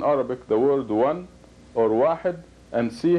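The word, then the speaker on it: واحد: It is pronounced wahid, wahid.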